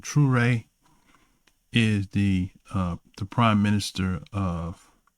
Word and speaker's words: Traoré: And this is the same territory where Abraham Traoré, I think that's how you say his name, Traoré, is the prime minister of Burkina Faso, I think it is.